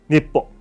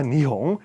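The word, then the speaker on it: 日本: 읽는데 와코쿠카라 와노쿠니카라 일본에서 니뽕, 자 니홍 일본으로 이름이 바뀌어요. 자, 읽기에는 이게 언제냐면 648년에 648년 이걸 읽을 때 야마토라고도 읽어도 되고 아까 대화도 야마토였었잖아요. 아니면 니뽕 아니면 니홍이라고 읽어도 괜찮아요.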